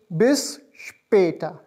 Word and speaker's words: bis später: See you later is spelled as B-I-S-S-P-A with two dots here, T-E-R and it's pronounced as bis später, bis später.